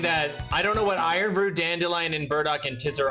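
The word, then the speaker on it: Irn-Bru: And then and then it's just earn brew is just pronounced iron brew. Okay. Gotcha. It's pronounced tiser and the other one is pronounced iron brew.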